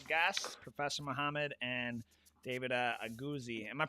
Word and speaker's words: Aguzzi: with some special guests Professor Muhammed and David auzi am I pronouncing that correctly auzi yeah that's correct okay all right and um